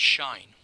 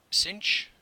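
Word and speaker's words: sinh: the second function is normally pronounced shine some will call it cinch or even just sine H of X so there are a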